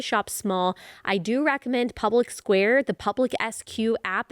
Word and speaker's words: Public SQ: small I do recommend Public Square the public SQ app it's spelled public SQ but you say Public Square and just put in